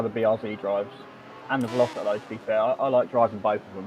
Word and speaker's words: BRZ: Yeah, the BRZ look, the BRZ, not Z, we don't pronounce it Z. We're not American. We don't pronounce it as Z.